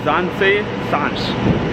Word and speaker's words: Zaanse Schans: ஸோ நான் இப்போ போகிற இடத்தோட பேர் வந்து ஜான்சே ஷான்ஸ், அப்படி தான் ப்ரொனவுன்ஸ் பண்ணுவாங்க.